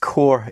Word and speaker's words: corps: And yes, in fact, I did know that corpse or corp is pronounced core in the English language.